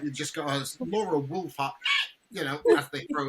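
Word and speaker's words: Wolvaardt: So even things like that, basically, and it's not Wolfart, it's Wolfart. It's actually quite a hard W.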